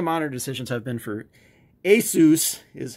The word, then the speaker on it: Asus: to say because I always said Asus but it's Asus and it's supposed to be the end of Pegasus but anyway if Benke